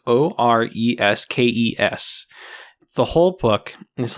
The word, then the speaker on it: Oreskes: Naomi I believe the last name is pronounced Oreskes. It's Oreskes.